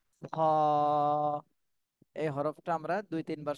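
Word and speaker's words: خاء: শুরু মাঝখান শেষ তাহলে কলার শেষ ভাগ থেকে এই হরফটা উচ্চারণ করতে হবে খা এই হরফটা আমরা দুই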